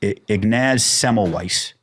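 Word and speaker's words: Ignaz Semmelweis: to this guy and i always say his name wrong but it's ignaz semelweis you know what his crime was he said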